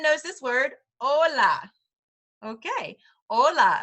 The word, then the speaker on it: hola: this word Hola okay hola again we're ignoring the H there and it's hola so if you're brand